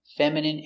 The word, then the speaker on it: feminine: Words ending in ine can have different pronunciations. All of these have the sound in. Imagine, examine, engine, discipline, feminine, and masculine.